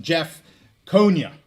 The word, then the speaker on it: Jeff Konya: Jeff Konya. I said it right that time.